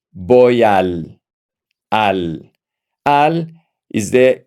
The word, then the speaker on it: voy: If you notice, we don't pronounce the V in Spanish. The V in Spanish is pronounced B.